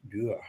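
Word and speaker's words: Tür: So in English, it's door, but in German, it's Dür.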